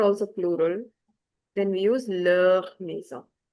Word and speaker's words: leur: plural, then we use leur maison. The pronunciation of leur without the s and with s is the same.